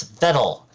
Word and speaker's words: Vedal: It's Vedal, rhymes with pedal.